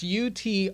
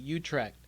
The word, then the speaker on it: Utrecht: I don't even know how to pronounce this. It's Utrecht. Utrecht.